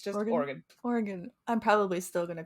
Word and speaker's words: Oregon: Oregon Oregon Oregon so pretend that o is an i yes I mean yeah and Crush those vowels just they're gone just you don't need that second one it's just Morgan Oregon I'm probably still gonna